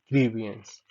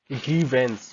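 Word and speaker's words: grievance: Next देखते हैं ग्रीवियंस, शिकायत। सॉरी, इसका मतलब है ग्रीवेंस, प्रोनाउंस हम ऐसे करेंगे ग्रीवेंस, शिकायत।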